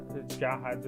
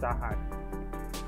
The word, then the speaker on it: Jahad: people write his art i say jahr i don't really care about that difference in pronunciation because is exactly what we are in the anime so i'm gonna keep it with jahad and not zahad all right next thing